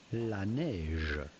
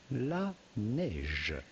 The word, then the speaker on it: La Neige: The name comes from French La Neige, which translates into the snow. So how do you go about pronouncing the name of this brand? From French, La Neige. La Neige.